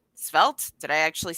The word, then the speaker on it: Svelte: how you download the Volta front or spelled svelte did I actually say it right this year